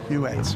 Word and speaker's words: Huet: Yes, we were pronouncing it as Hua in Barcelona but we were put right. Huet.